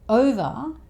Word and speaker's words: over: Over has the schwa sound at the end, over.